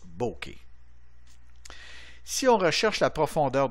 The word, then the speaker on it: bokeh: Ça se prononce bokeh.